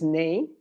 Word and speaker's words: neigh: So the horses neigh. I don't know why, because I never had a horse. But maybe some people in the audience know. Neigh, como neighbor, but only the first part.